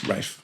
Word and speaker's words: Ralph: Rafe is kind of like the posh way of saying Ralph. Yeah. But he's the only person I know who has that name who says it as Rafe.